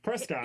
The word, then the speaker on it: Prescott: Prescott. It's Prescott. No, it's Prescott. What the fuck? Sounds like biscuit. So What? Prescott sounds like biscuit. That's how you say it up there.